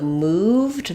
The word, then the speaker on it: moved: So in the case of moved, the ED says the D sound, so it sounds like moved some.